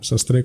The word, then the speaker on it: Sastré: en la segunda A, Sastre con acento en la E.